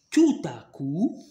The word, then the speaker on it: tout à coup: marche toute seule il est accompagné de personnes tout à coup tout à coup alors pena on la prononce pas ah pourquoi je te ta coupe tout à coup d'accord alors soudainement et fougère on doit respirer